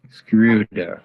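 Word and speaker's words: Schröder: hear from you how is your last name pronounced screwdriver screw there okay thank you and just a follow-up question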